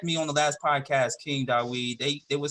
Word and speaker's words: King Dawid: Well, it's King Dawid, yeah. It's pronounced King Dawid.